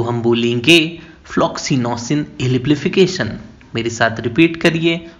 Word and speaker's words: Floccinaucinihilipilification: तो आइए सबसे पहले हम सीखते हैं इस वर्ड को प्रोनाउंस कैसे करना है। तो हम बोलेंगे फ्लॉक्सिनोसिन एलिप्लीफिकेशन। मेरे साथ रिपीट करिए, फ्लॉक्सिनोसिन एलिप्लीफिकेशन।